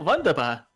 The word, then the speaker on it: wunderbar: Oh, wunderbar. Wunderbar. I don't know German, I apologize, so. The only thing I have to remember about German is that they don't, like, their W's are pronounced with a V.